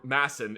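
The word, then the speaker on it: Madsen: off of like a a Madson or Masson if you're pronouncing it the correct way and then like I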